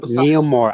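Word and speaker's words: Namor: No, Neilmore. I'm literally saying it. That's his name. It's spelled N A M O R. That's how that's how it says supposedly.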